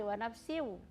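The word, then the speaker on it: وَنَفْسٍ: J wafsi wafsi jadi dia tadi membacanya cepat sekali wanafsi ya wfsi wama terlalu cepat masuknya ke huruf wau ya jadi seperti itu ya coba dibaca lagi Wa Nafsi W sawwaha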